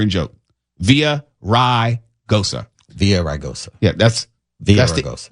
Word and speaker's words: Villaraigosa: Villaraigosa. Yeah, that's Villaraigosa. The anglicization of the word. Villaraigosa. But if you're going to pronounce it in Spanish, it's Villaraigosa. And the Antonio has a soft T.